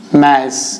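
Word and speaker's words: mass: क्या है, द्रव्यमान, जिसको हम अंग्रेजी में मैस कहते हैं। मैस, इसका प्रोनाउंसिएशन क्या है, मैस, लेकिन नॉर्मली लोग इसको मास कहते हैं, मास, मैस है प्रोनाउंसिएशन।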